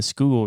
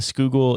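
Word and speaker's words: Schuylkill: Delaware River and the Skoal River I'm so proud of you for your pronunciation of that well well hey I'm going based off of how local philadelphians said it so I hope it's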